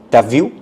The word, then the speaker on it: t'as vu: Tu as vu. This will be pronounced as t'as vu.